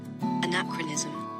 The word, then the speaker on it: anachronism: I'm just dropping in to let you know this is the correct way to pronounce it. Anachronism.